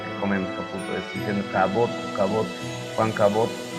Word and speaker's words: Caboto: No es Caputo, es Caboto. No es lo que comemos, Caputo, es diciendo Caboto.